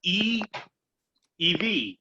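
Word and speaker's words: ʻiʻiwi: spanish it helps because i is pronounced the e sound is in the double e um so e ev and then the apostrophe is a pause thing right right but i probably pause a lot longer than everybody else but i have that as e ev um and this is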